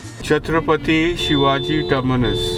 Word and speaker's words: Chhatrapati Shivaji Terminus: He picked me up close to the Chhatrapati Shivaji terminus and finally learned the right pronunciation. Chhatrapati Shivaji terminus.